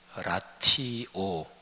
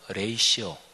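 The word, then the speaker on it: ratio: 책 제목이 라티오, R-A-T-I-O인데 이게 라틴어예요. 영어로 레이시오. 근데 이 라티오, 이 영어 단어도 스펠링이 똑같아요.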